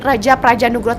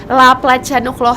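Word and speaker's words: ราชประชานุเคราะห์: Betul, mereka tuh buat namanya ini nih Raja Praja Nugroh, tapi bacanya nggak kayak gitu Kak. Bacanya tuh kayak La Plaja Nugroh Hoksip.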